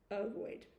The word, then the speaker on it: ovoid: And ovoid shape is spelt similar to avoid, except with an O. So instead of saying avoid, ovoid.